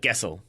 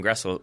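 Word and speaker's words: Gressel: I think it's uh Guessel. Gessel, is that how you pronounce that? Grestle.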